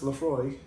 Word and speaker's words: Laphroaig: by volume 86 proof media's acts as a Laphroaig pronounced Laphroaig is an all malt scotch whisky from the